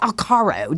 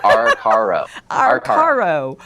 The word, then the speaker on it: Arcaro: I never say Alcaro. Did I say it right, Glenn? I don't. I think you're almost there. Arcaro. Arcaro.